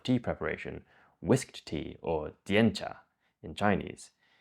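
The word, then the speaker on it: 点茶: preparation, whisked tea or diencha in Chinese. In Japanese, this is pronounced tencha, not to be confused with tencha, the raw material that gets ground into matcha.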